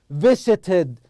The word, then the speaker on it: visited: نطقت ID. Visited, ID.